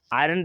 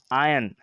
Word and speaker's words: iron: आयरन देखो हम गलत प्रोनाउंसिएशन कर रहे हैं, आपके कन्फ्यूजन ना हो आपको, इसलिए क्योंकि the correct pronunciation is आयन, Fe symbol which have the atomic number 26.